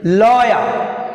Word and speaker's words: lawyer: Lawyer, L, stress is first syllable L, lawyer.